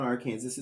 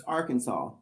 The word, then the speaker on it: Arkansas: No, it's not Arkansas. It's Arkansas.